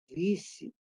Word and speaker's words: visit: Visit. Pero la fuerza tónica está en la primera.